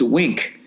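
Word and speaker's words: Winc: week all right uh winz pronounced wink spelled wi though without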